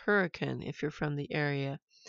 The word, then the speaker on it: Hurricane: hurricane we just spelled like hurricane but it's pronounced hurricane if you're from the area and that's where